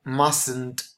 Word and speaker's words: mustn't: in a negative again mustn't or must not this is the contracted form but we remember that in the negative you don't pronounce the T and then the negative